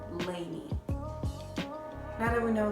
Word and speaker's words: LANY: said in an interview they tried to pull a dnce where their name was supposed to pronounce LA and why but with time a confusion their name end up being lady now that we know